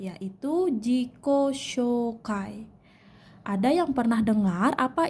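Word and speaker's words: 自己紹介: 1 saya sudah menjelaskan Jika ada huruf vokal dua huruf vokal bertemu maka dibacanya panjang Zico shokai oke Hai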